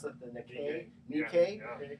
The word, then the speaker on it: Nikkei: How do they pronounce that? The Nikkei. Nikkei.